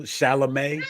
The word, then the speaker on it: Chalamet: Chalamet? But King. Yeah, I could never. I mean, type not for Just think of Shalimar. There we go. Right. Thank you, Timothy Chalamet.